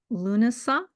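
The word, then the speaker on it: Lúnasa: curious where because gosh, how far along are we in Lunasa?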